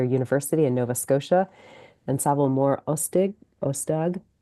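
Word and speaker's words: Sabhal Mòr Ostaig: Francis Xavier University in Nova Scotia and Savile Ostag, right? Something like that. I'm pronouncing that probably more in the Irish Gaelic way than in the Scots Gaelic.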